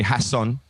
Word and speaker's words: Jason: so cool i mean blocker used to call me hassan you know because i in spain they pronounced the jays like a her says hassan come here